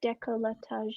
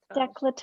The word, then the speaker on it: décolletage: Décolletage. Decolletage. Décolletage.